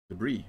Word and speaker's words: debris: is to be destroyed debris not the breeze debris that s begs me begs to be pronounced yes at the end of debris get a little closer